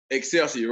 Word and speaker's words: Excelsior: And how do you pronounce your high school, Excelsior? Excelsior, right.